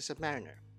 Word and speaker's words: Submariner: world the Submariner and that's how you pronounce the Submariner next we will explore what makes the yacht